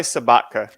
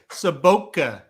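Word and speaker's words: Sobotka: 5 is Smiley Sabatka. That's how I say it. I can correct you. For the first time in my life, I can correct you. Sabotka is how you say that. Sabotka, okay. Yeah, the only reason I know that is Vladimir Sabotka played for the Blues.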